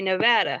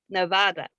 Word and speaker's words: Nevada: people in nevada say nevada however that is a spanish word and it is pronounced properly as nevada and but they don't